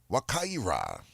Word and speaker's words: Wakaira: Just before we do so, I'd like to remind you of your Kalinago word of the day for today, and that's Wakaira.